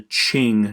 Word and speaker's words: Qing: After conquest, the Manchus found a new dynasty called the Qing dynasty. That is how you pronounce that word.